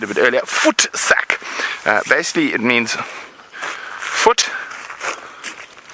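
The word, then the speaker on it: voetsak: with the word I said a bit earlier foot sack uh basically it means foot sack but I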